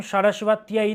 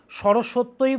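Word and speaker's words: सरस्वत्यै: ওম আইম সারাসবাতই নমহ। যেইভাবে উচ্চারণ করছি সেইভাবে উচ্চারণ করতে হবে। কিন্তু সরস্বত্যই বললেও হবে। কিন্তু প্রপার সংস্কৃত উচ্চারণ করুন। সারাসবাতই আর সরসত্বই তফাত আছে ওম আ সারাসবাতই নামাহ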